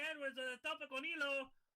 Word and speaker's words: hilo: A tope con hilo. I don't know, man. I'm trying. Con hilo. The H is silent in Spanish. Oh. Hilo. Elo.